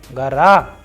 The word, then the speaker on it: гора: For example, in the feminine gender words we have gara, naga, whereas we have vowel o after letter g, r and a. So the pronunciation is coming as gara.